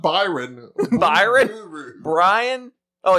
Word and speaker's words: Brian: know I don't know if that's how you pronounce it it is not I can assure you it is not Byron Byron Brian oh it's Brian it's it's not hard it's